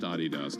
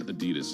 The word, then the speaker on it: Adidas: Adidas is you well it's a family name so it is pronounced Adidas technically but even the company says Adidas in this country they're